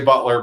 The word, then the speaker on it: Beutler: us that's our our website um you can find me on LinkedIn uh my last name is spelled funny uh so we say Butler but it's got a random e in there so b t l